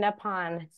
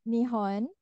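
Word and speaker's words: 日本: Yeah, Nihon and Nippon, just Uh, for pronunciation. it's Nihon. Nihon is the proper name, proper pronunciation.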